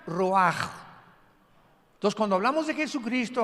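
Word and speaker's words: רוח: Es la palabra se escribe roach, como suena con rúl ch al final roach y se pronuncia roaj.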